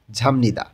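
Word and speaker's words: 잡니다: তো এখানে হয়ে যাবে ঝামনিদা। বিয়োগটা নিউনের কারণে ম উচ্চারণ হবে।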